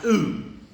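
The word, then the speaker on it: οὐ: It's pronounced oo.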